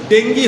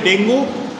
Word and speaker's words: ডেঙ্গু: আর Aedes হওয়ার আরো ভয়ঙ্কর, এডিসে কামড়ালে ডেঙ্গি হওয়ার সম্ভাবনা থাকে। কেউ কেউ উচ্চারণ করে ডেঙ্গু, কেউ কেউ উচ্চারণ করে ডেঙ্গি, DENGUE।